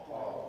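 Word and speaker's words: ق: Cough. Cough. Right everyone. Cough. When a fat lands on it, it is pronounced as C one counts. No stretching. But the name of the letter is stretched.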